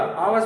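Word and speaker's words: hours: आवर्स किसको पढ़ा जाएगा, आवर्स नहीं पढ़ा जाएगा, आवर्स पढ़ा जाएगा। यह साइलेंट हो जाता है, जैसे ऑनेस्ट में यह साइलेंट रहता है, उसी प्रकार आवर्स में यह साइलेंट रहेगा।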